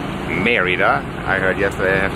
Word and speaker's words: Mérida: nine hours of the bus from polenka to meridah meridah I heard yes I have to pronounce it and behind us is our beautiful